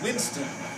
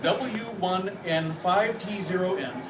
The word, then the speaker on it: w1n5t0n: but back when the story starts, I was going by, pronounced Winston, not pronounced W1N5T0N, unless you're a clueless